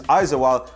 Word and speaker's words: Aizawl: But the mood was jubilant between both sets of fans at the Salt Lake Stadium as league leaders Aizawl had lost earlier in the day, leaving both teams an opening to steal in on first place.